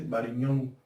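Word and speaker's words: Varignon: Y entonces en este tema aparece un señor de apellido Barignon. Barignon. Ahí está. Pero uno dice Bariñón, que es lo mismo, pero se escribe así.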